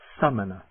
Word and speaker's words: samaṇa: begin with the vowels start with ah for the a short a uh which means ascetic or monk it's a very short a almost like the you and butt summoner the long a ah